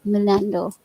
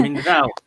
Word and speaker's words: Mindanao: I just want to thank you, the film festival, Minando, right? Minando, right? Mindanao. Mindanao. Yeah, I can pronounce it.